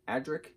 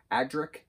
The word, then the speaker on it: Adrik: alana and adrick a-d-r-i-k adrik that's how i say it i don't know if that's how you pronounce it but adrik like roderick agric that's how i was saying it so uh it